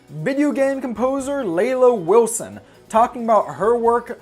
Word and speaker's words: Leila: Everybody else is like Leela, because it's spelled like Sheila, but, yeah.